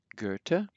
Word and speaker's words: Goethe: Then other remarkable differences are TH is pronounced like, just like a T, so let's read these. Luther, Goethe.